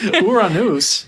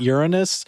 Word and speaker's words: Uranus: Neptune day no oh Uranus day yes Uranus UR that's the first time I've heard that not Uranus see that sounds like urine I think it's just